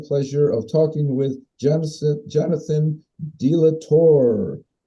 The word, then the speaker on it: De La Torre: Now, before we go any further, am I pronouncing your last name right, De La Torre? De la Torre.